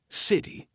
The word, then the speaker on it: city: So, city, right? I'm not saying city. It's in between two vowel sounds, so quick D, city.